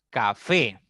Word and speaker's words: café: De derecha a izquierda, entonces tenemos café. Café es una palabra que tiene 2 sílabas. La mayor fuerza está en la primera sílaba y esa palabra termina en vocal E.